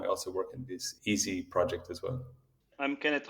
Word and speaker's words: EESSI: EeSSI, not EasyBuild, but EeSSI. What is it? EeSSI stands for the European Environment for Scientific Software Installations. And the fact that we pronounce it as EeSSI is not an accident.